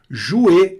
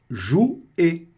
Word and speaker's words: jouer: Jouer, olha o O mais U aparecendo aí de novo. Som de U.